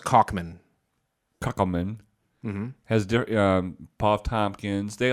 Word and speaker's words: Kaufman: It's pronounced Kaufman.